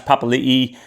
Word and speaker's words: Papali'i: The losses there are Gerald Skelton, he heads off to the West Tigers, Joash Papali'i, or Papali, I think he likes it pronounced, to the Eels.